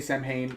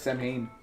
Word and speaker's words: Samhain: is october samhain samhain i say i'm going to say samhain knowing full well it's technically pronounced slightly differently but yes samhain um and i don't